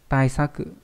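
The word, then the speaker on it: 対策: Đấy, đọc là Seisaku. Hoặc là trong từ gì nhỉ? Trong từ đối sách. Taisaku.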